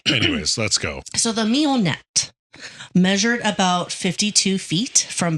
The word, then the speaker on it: Mignonette: Oh, so it's spelled weird. Mignonette. Oh, yeah. Oh, Mignonette.